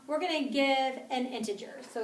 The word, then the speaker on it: integer: in just a second lastly we have integer that's commonly mispronounced so it's integer and these are all